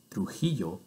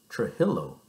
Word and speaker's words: Trujillo: It is why I pronounce my last name Trujillo and not Trujillo on the air.